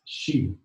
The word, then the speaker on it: xi: The pinyin is XI, the pronunciation is she.